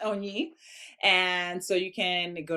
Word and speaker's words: Onyi: Onyi Mhm. sounds like only, but it's pronounced Onyi.